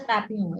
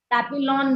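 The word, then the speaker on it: Papillon: Papio by that name it's a French name kind of it's a P A P I L O N pronounced as Papio it is papulon many people will pronounce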